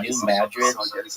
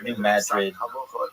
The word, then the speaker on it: New Madrid: area of like what's New Madrid uh Missouri. And if you're like, why are you calling it Madrid and not Madrid? It's not pronounced like Madrid like in Spain.